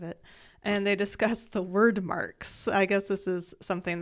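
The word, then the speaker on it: Wyrdmarks: called word marks and word marks is with a Y so w y r d m a r k s surprisingly I had no problem pronouncing those yeah I wanted to say weird marks oh that's what I wanted personally but I found out that was not the case so senena then finds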